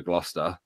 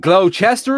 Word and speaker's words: Gloucester: our ship's company and mispronounce the name which I found amusing because you guys also have a Gloucester in America Shire and he went glow Chester a shire we all look at